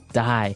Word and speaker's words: dye: you're dyeing it okay dye so it's pronounced exactly the same way as you know to die to not live anymore die but it's spelled differently